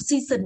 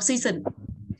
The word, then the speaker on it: season: Tiếp theo nhé, từ mùa chúng ta không đọc season đâu ạ, mà âm ở giữa nó là âm z, âm giữa nó là âm z, vậy không đọc season phải đọc là season.